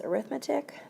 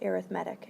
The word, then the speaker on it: arithmetic: this word pronounced as arithmetic but for whatever reason when we are talking with sequences the word is pronounced arithmetic it almost sounds like there is a d there instead of an e t all right so all